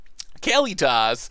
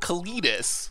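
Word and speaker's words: Kalitas: I think they all he said Kelly toss and I said that mockingly thinking I was saying it wrong and then it turned out that it actually I think it's supposed to be said that way because III want to call it Kalidas like the slackjaw yokel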